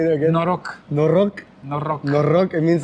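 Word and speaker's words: Noroc: Norok.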